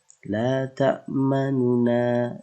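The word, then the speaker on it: لَا تَأْمَنَّا: Ya, ini agak sedikit memoncongkan ya cara kita untuk mengucapkan bacaan isimam. La ta'manuna. Jadi setelah sukun itu terdapat domah ya. Jadi kita membacanya ada penekanan sedikit menjorok ke depan posisi bibir kita.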